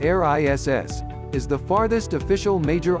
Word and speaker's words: Eris: inside the path of Pluto a RIS Aris pronounced air ISS is the farthest official Major object in our